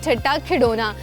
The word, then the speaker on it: ठट्टा खिडौना: से खिडौना जाता है, लेकिन अगर इसकी एग्जैक्ट प्रोनाउंसिएशन बताऊं दैट इज़ ठट्टा खिडौना।